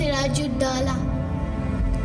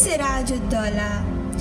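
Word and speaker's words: Siraj ud-Daulah: Kunal, it's pronounced Siraju Dala. Yes, child, it is Siraju Dala.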